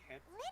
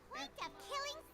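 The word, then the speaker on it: Jeht: Is this like how Jet's real name is actually Het? And yeah, I'm surprised with that, by the way. Jet from the Virgin Kiss Quest, or they call it the Super Quest, is actually pronounced Het.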